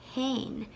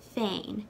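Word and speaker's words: féin: flat i n as hein as though it starts with an h that's the way i've mostly heard it pronounced but i know that some people pronounce it fein so you could say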